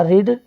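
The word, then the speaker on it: read: I have, पढ़ना का रीड, लेकिन इसका थर्ड फॉर्म हो जाएगा, लिखेंगे रीड, उच्चारण में रीड पढ़ते हैं, आई हैव रेड, और यह पुस्तक तो this book, I have रेड this book.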